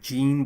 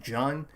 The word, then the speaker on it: Jean: um type of person Jean uh it's spelled like J A an so it's like Jean but like they pronounce it Jan uh rer rer the